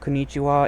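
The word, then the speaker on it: こんにちは: how to pronounce that, because it's pronounced as it looks. The difference is, it's technically not konnichiwa, it's konnichiwa. So there's a bit of a pause there.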